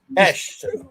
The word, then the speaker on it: Esh: Esh. If you're struggling how to say it, just say Sesh, but without the S. I gotcha. Esh, thank you for being here.